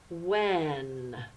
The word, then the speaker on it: when: Remember, the H is silent. When.